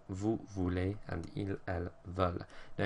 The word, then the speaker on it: voulez: Nous and vous are pronounced voulons, voulez, because they're spelled with an OU, but then with il,